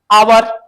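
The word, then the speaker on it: hour: जब इनके first letter को साइलेंट करते ना, चलो तो यहां से पढ़ोगे आवर, honourable, honourable man, honest, है ना।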